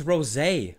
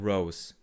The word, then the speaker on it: Rosé: It's Rosé, not Rose. She's pronounced Rosé? Oh damn, I called her Rose in like the last 2 videos.